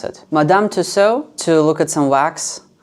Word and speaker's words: Madame Tussauds: Branch we're going to how do you even pronounce it Madame tuso to look at some wax figures and then we have a theater stranger thanks play in the evening at 700 p.m.